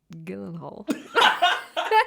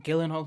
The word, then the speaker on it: Gyllenhaal: Isn't he Jake Gyllenhaal?